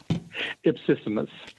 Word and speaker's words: Ipsissimus: Ipsissimus.